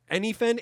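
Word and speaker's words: Enhypen: name again how you say it all right anything it's spelled e-n-h-y-p-h-e-n hey anything y'all can go [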